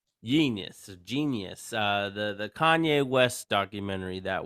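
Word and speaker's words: Jeen-yuhs: I watched the 3-part documentary to, I believe it's pronounced Genius, even though it's spelled weird. Genius. Genius.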